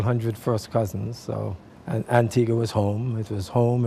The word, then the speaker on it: Antigua: profiles so we're going to go back to Antigua pronounced correctly absolutely that's the right pronunciation everybody wants to say Antigua but you said it correct we're going to